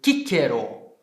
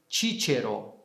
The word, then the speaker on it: Cicero: Para dizer o nome dele no latim clássico, eu digo Cicero. E para dizer, né, com a pronúncia reconstituída, Cicero. Por quê? Porque a letra C tem som de K.